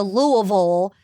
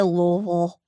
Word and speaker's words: Louisville: main advice is to say it like you're drunk on bourbon so just slur it oh it's kind of